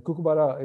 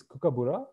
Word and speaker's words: kookaburra: the kookaburra and the cuckoo bara we've we mispronounce the name a little bit it's kookaburra the kookaburra is a Australian